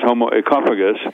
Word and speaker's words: Homo Ecophagus: Let me just tell you that the correct pronunciation of my book, as far as I'm concerned, is Homo Ecophagus. Ecophagus. Meaning as Ecophagus, as in economy, ecology, etc. Oikos meaning the Greek word for home.